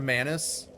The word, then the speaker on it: Manus: Manus rhymes with anus.